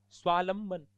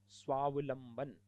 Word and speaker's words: स्वावलंबन: तत्वावधान तत्वावधान होता है स्वालंबन स्वालंबन नहीं स्वधन अवलंबन स्वावलंबन इस प्रकार इन शब्दों का